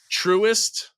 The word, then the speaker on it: Truist: The Philly Cricket just hosted the Truist. Is that how it's pronounced?